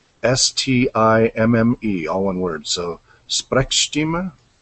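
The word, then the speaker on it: Sprechstimme: uh helene's asked me how that german word is spelt it is s-p-r-e-c-h s-t-i-m-m-e all one word so sprechstima not sure if that's yeah i know the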